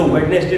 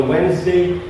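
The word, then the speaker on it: Wednesday: अब इसमें T silent होता है। ये ज्यादातर लोगों को पता ही नहीं है। इसको वेडनेसडे नहीं बोलेंगे। यहां पे टी साइलेंट है। ऑन वेडनेसडे एंड ट्यूसडे।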